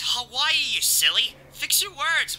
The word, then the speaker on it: Hawaii: got the flight tickets to the tropical paradise hey way i perfect i always wanted to go on a trip what did you just say uh hey way i hey it's hawaii you silly fix your words man how do